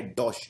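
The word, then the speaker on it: Deutsche: Germany का सबसे famous bank डॉश bank, इसको प्रोनाउंस किया जाता है डॉश, डॉश बैंक।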